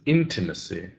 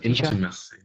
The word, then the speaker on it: intimacy: The last word is intimacy. So we put the stress on the first syllable. Can you try intimacy?